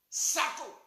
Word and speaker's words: Sako: Et il s'appelle Kalilou Awaso Sako. Kalilou, j'appelle K-A-L-I-O. Je répète, K-A-L-I-L-O-U. Kalilou. Awas s'écrit A-W-A-X.